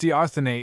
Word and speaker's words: d'Arthenay: d'Arthenay, footnote, pronounced d'Arthenay, is this you?